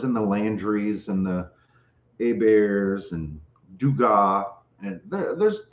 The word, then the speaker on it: Hebert: heberts and we have a bears same spelling h-e-b-e-r-t down here in louisiana because a bear is the french pronunciation of the last name so there were people